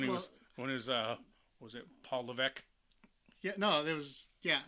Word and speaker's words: Levesque: When he was was it Paul Levesque? Yeah, no, there was, yeah, well, that's how it's pronounced, is Levesque.